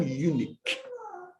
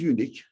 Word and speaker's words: unique: but nobody's like i'm unique do you remember adam you taught me how to pronounce unique i was pronouncing it stressing the first syllable this is misunderstood brother